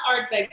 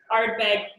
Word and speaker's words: Ardbeg: now um that it is not art big black because there are three a's it's actually art bag black the wonderful tones of